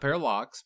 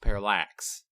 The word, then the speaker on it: parallax: time I i said it's actually a parallax a parallax not parralox parallax and it has 2 l's in it I think it's